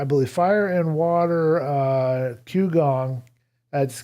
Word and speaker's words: Qigong: more do standing type exercises there's something called Qigong or Chi Kung depending on how you pronounce it but there's a fire in I believe Fire and Water uh qgong that's q i uh g-o-n-g by a fella